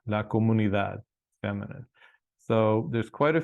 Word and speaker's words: comunidad: la comuni that okay again th sound La comunidad feminine so there's quite